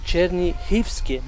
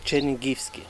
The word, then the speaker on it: Чернігівське: it's not exactly right this g here in russian is pronounced but in ukrainian huh so cherny heevsky not chenin that's what i think right